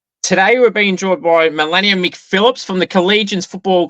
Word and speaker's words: Marlaina: Today we're being joined by Marlaina McPhillips from the Collegians Football Club. Marlaina, thanks for coming on. Probably butchered your name, but thanks for coming on.